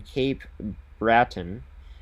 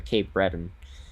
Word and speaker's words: Cape Breton: As for Garden City, got to mention them as they are in Cape Bratton or Cape Breton is I believe how it's pronounced for a tournament this upcoming weekend for themselves.